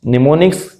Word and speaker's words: mnemonics: निमोनिक्स जब pronounce किया जाता है तो निमोनिक्स पढ़ा जाता है, प्रोनाउंस किया जाता है। जब इसको लिखा जाता है तो M से इसको स्टार्ट करते हैं, MNEMONICS, ठीक है, निमोनिक्स।